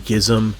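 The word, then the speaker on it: G.I.S.M.: you had bands like gizm that's the correct way to say it um the nurse um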